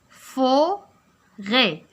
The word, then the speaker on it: forêt: alors et forêt. alors la lettre que je rencontre ou bien la lettre اللي كنلقى في الاخر هي la lettre T. هذه حتى هي muette il ne se prononce pas.